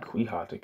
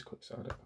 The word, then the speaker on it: quixotic: I'm pronouncing that right it's not quatic is it it's quick sotic right quick Sonic sorry quick sodic okay it is quick sodic back to the text